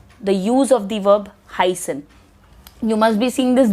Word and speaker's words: heißen: The use of the verb heißen. You must be seeing this beta. It is not beta, it is pronounced as set. And it has a sound of doppel S.